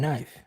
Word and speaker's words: knife: any sense at all there's a k and knife yeah but it's silent and night it doesn't